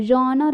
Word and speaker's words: genre: talk about a genre a genre is a french word uh it's a the